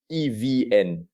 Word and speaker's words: EVN: At the center of this tension is the state-owned electricity monopoly, Vietnam Electricity, known as EVN, pronounced as 3 individual letters, EVN.